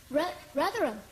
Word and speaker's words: Rotherham: Rotherham.